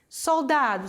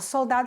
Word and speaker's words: soldado: cientistas científico científico soldado soldado se escreve igual perdão galera porém se pronuncia diferente soldado soldado certo soldado não é soldado como a gente fala o l vai ter som de L em espanhol cantora cantante la cantante